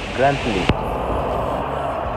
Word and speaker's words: Grantley: from Barbados grle Adams international airport so it's pronounced like grantly see grantly you have beautiful view but it's